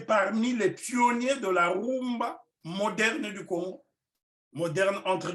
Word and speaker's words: rumba: leur déportation à Cuba rumba est la mauvaise pronontion prononciation des Espagnols de Kuma qui signifie nombril pourquoi nombril parce que